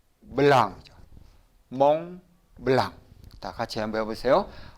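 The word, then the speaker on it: Mont Blanc: 뭐 없어요 그러니까 어떻게 돼요 그러니까 같이 한번 발음해 보세요 이거는 멍 멜랑 몽블랑 같이 한번 해보세요 몽블랑 다시 한번 몽블랑 몽블랑 많이 보시고 또 들으셨죠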